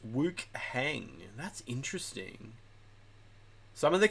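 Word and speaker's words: Wuchang: In Chinese, it's pronounced Woohang.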